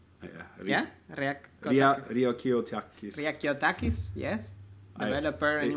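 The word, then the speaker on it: Ryakiotakis: So during Gooseberry, I asked Antonis to make me Riakotakis. Yeah. Riakiotakis.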